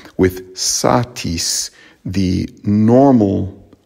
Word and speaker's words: satis: the first syllable with satis the normal stress would be on the first syllable satis not satis and there's an interesting